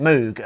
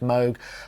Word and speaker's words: Moog: moo a lot okay and we say it Moog and it's just a force of habit I know it should be pronounced MOG I do occasionally try and remember but just